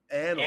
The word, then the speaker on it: annals: I don't think I don't think the annals annals of annals of history.